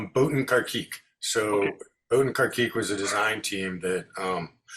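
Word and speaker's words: Botin Carkeek: It's Boatin Karkik.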